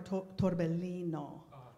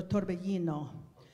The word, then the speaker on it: torbellino: I heard more torbellino, okay? So that would be Italian pronunciation with a double L. So torbellino.